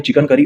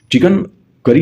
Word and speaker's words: चिकनकारी: लखनऊ में चिकन करी और जरी जरदोजी में देखने को मिलता है। चिकन करी नहीं होता है, चिकनकारी है, चिकनकारी है, इसका सही प्रोनाउंसिएशन हम लोग करेंगे, चिकनकारी है।